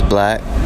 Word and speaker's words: 6LACK: My name is Black. That's spelled 6LACK, the 6 being, an important number to me.